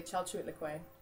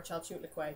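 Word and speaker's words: Chalchiuhtlicue: Uh the name is actually Chu Lequay or Chu Lequay depending on where you want to stress it.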